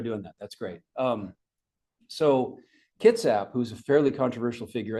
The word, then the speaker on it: Kitsap: Because now we say, it's my sense is emphasis on the first syllable, Kitsap, right?